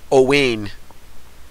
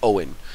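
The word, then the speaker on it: Owain: this that's my son's name which one Elaine Oh Wayne oh but it's the English anglicized version the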